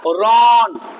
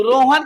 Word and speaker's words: Rohan: हमने तो RO लिखा, रो हो गया, लेकिन हन, अभी इसको पढ़ोगे तो, इसे पढ़ोगे तो इसका निकलेगा क्या, रॉन। यहाँ साइलेंट हो जाएगा, इसका पढ़े निकलेगा रॉन। जैसे आप पढ़ते हो JOHN, जॉन, इस तरह हो जाता।